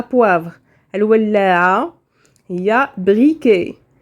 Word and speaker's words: briquet: الولاعة هي briquet. un briquet هذيك تي على فان ما تنقراوهاش ما كتنطقش.